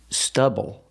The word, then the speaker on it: stubble: stubble on his face pronation use the short uh like cup and up stubble stubble put the stress on the first syllable by the way they